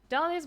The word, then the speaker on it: Dahlia: suggestion of your own dahlia's most mysterious and alluring trait is the silent h in their name start planting silent pages